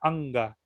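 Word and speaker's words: अङ्ग: Por ejemplo, la palabra anga, que es la N, la tienes que pronunciar desde la garganta, no pegando la lengua, porque normalmente la N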